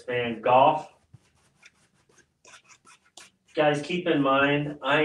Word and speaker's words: Van Gogh: So it's not Van... Go, it's Van Gogh.